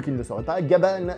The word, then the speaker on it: Gavan: ne le sauraient pas gabal c'est la prononciation japonaise de gabin parce qu'on en effet